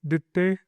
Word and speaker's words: Ditte: So I was called. But you can say Ditte or Ditte. Ditte. It's okay. I respond to any pronounce.